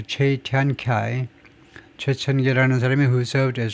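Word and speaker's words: Cui Tiankai: 체이티안카이 왜 이걸 체이라고 읽느냐 봤더니 이 양반이 이제 최천계네요. 최천계. 그래서 이 최니까 중국 발음은 이거 꾸이가 아니고 체이다 이거죠. 체이티안카이 최천계라는 사람이 who served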